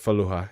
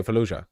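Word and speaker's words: Fallujah: Is it Ja? So, it's pronounced J. Okay. Feluja.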